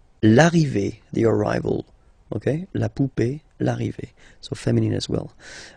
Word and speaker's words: poupée: then e here, okay, remember this final e is not pronounced, so you will have this e, remember, accent aigu, it's e. Sound, okay. La poupée, the doll. L'arrivée, the arrival, okay. La poupée, l'arrivée.